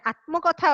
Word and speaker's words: আত্মকথা: এখানে আত্মকথা আছে, আসলে এটার উচ্চারণ হবে আত্মকথা। গোলক চন্দ্রের আত্মকথা।